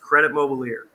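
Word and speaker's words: Crédit Mobilier: interesting this here is Credit Mobilier so it's pronounced Credit Mobilier and this was a construction company that was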